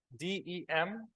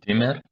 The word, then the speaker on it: demur: D-E-M-U-R. What do you think? How to say it? Who can guess the pronunciation, guys?